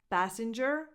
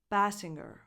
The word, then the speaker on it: Basinger: It's not Basinger. It's a hard G sound, but it's not a strong G sound. Basinger. Can you hear it? Because that G comes after the N, so it's not strong at all.